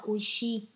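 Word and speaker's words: 美味しい: Bạn tiếp theo, ở đây mình có chữ Hán là chữ Mỹ và chữ vị, và cách đọc của nó chính là oishi.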